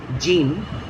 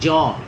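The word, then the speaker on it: Jean: j e a n it's not actually jin it is actually jaw it's a French pronunciation jaw ja Pia Pia.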